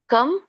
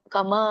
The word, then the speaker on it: ಕಂ: ಶಃ ಪಾರ್ಥ ಕಂ ಘಾತಯತಿ ದೊಡ್ಡ ಘಾ ಇದೆ. ಸೊ ಹಾಗಾಗಿ ನೀವು ದೀರ್ಘವಾಗಿ ಉಚ್ಚಾರಿಸಬೇಕು. ಘಾತಯತಿ ಹಂತಿಕಂ ಮ ವ್ಯಂಜನ ಇದೆ. ಹಾಗಾಗಿ ಕಮ ಅನ್ನಂಗಿಲ್ಲ, ಕಂ ವ್ಯಂಜನ ಇದ್ದಾಗ ನಾವು ಅರ್ಧ ಉಚ್ಚರಿಸಬೇಕು ಅದನ್ನ.